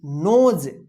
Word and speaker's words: nose: यदि ओ रहेगा और लास्ट में ई रहेगा तो ओ का ओ उच्चारण कीजिएगा, ई का उच्चारण नहीं होगा।